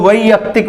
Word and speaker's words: वैयक्तिक: है वैयक्तिक मैंने पर्सनल, क्योंकि यहां अय के बाद यह आ गया तो इसको वैयक्तिक बोलेंगे, वै, तो यहां इसका जो उच्चारण होगा वो आई हो जाएगा, वैयक्तिक।